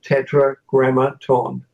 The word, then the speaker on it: Tetragrammaton: in the name of Tetragrammaton tetragrammaton one word three syllables I literally taught this